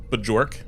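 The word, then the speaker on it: Björk: Excuse me, I think her name is pronounced Bjork. Bjork.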